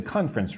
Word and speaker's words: conference: The word conference looks like it should have three syllables, but no, it's more like two. Conference.